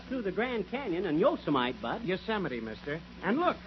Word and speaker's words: Yosemite: I wish you'd learn to pronounce these Western names right. It isn't Yosemite, it's Yosemite. Oh, yeah?